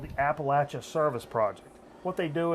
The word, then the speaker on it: Appalachia: And some of these, I mean, you think Make poor, sure everybody understands how you pronounce that. it's Appalachia. Appalachia. Yeah. Yeah. Not Appalachia. No, Not Appalachia.